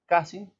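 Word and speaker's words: casing: el país se lee se escribe caising ka shing se pronuncia lamentablemente así gente no conmigo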